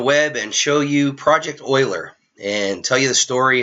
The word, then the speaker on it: Euler: I do uh project Oiler it's pronounced Oiler not uler and I learned that